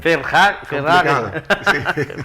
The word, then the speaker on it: Verhagen: gran invitado, a, y me corrige si pronuncio bien tu apellido, Vangen Verhagen. Verhagen.